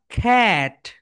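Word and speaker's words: cat: C sounds like খা, খা, খা, খ্যাট। সো এটাকে আমরা সবাই ক্যাট বলি, কিন্তু রাইট প্রোনাউন্সিয়েশন কি বলতো? খ্যাট, খ্যাট, খ্যাট।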